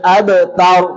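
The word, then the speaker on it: أبتر: আবতার, আবতার, আবতার বললে হবে না, বলতে হবে আবতার।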